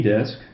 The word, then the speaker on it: des: There, if you have a vowel come after, you can pronounce the S and leave it alone. Otherwise, it's silent, okay? For example, il y a des fleurs dans un vase. There, okay? Otherwise, don't pronounce the S. Dans ma chambre, dans la